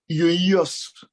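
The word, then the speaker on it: υἱός: Celui-là, c'est traduit par le thème, je ne sais pas comment on le prononce là, yoios.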